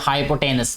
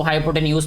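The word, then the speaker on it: hypotenuse: मैं इसको हाइपोटेनस बोलता हूँ, इसको हाइपोटेन्यूज भी बोलते हैं। तो ये हर कोई अपने हिसाब से जो है वो इसको प्रोनाउंस करता है, क्योंकि मुझे जैसे पढ़ाया गया मैं उसको हाइपोटेनस पढ़ता हूँ, आपको अगर दूसरे तरीके से पढ़ाया गया वैसे भी इसको बोल सकते हैं, लेकिन असल मकसद हमारा कॉन्सेप्ट है यहाँ पे।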